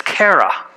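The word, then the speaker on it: χαρά: you can read that right no okay it's Kara which for me I'm saying this word can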